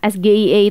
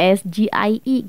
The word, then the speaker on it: SGIE: itu karena ini singkatan sgie itu singkatan dari bahasa Inggris ya harusnya bacanya itu ya SG II gitu loh Jadi kesannya